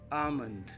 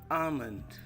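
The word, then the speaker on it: almond: the other one is amond L is silent okay amond so repeat it with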